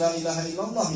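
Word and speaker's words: لا إله إلا الله: Lailaha, ila-nya dua, Bu, nih. Mad thobi'i. Lailahaillallahu, Allahu Akbar. Jangan diputus Lailahaillallahu ya, Bu, ya.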